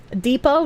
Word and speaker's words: depot: Depot, no T. Despot, yes T.